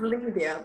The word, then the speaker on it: Liydia: Liydia, am I saying it right? Liydia. It's pronounced Liydia, but Liydia. I like that. I like it better.